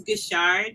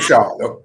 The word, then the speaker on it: Guishard: Is that the right pronunciation? It's Guishard, so like not Guishard.